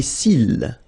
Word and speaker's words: cils: Okay, final X not pronounced. Les yeux. Les cils.